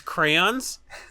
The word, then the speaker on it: crayons: he's like I'm nine I know these crayons put on my DJ Chris did nothing wrong here they're getting crucified for no reason I like how you pronounce it like it's spelled c-r-a-n that's my favorite crayons